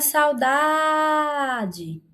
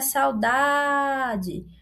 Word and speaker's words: saudade: Agora vamos para a palavra saudade. Olha a saudade. Olha a saudade. Demoramos mais aqui na pronúncia na penúltima sílaba.